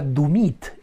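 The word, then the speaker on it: Doumit: yo de Australia no su nombre es Mónica dumit es se escribe doit no d o u m i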